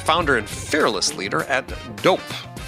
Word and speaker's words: Doughp: and fearless leader at dope that's spelled D o u g HP it's a cookie dough